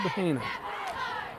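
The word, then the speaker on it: Hejna: That's spelled H-E-J-N-A, Hub Haina.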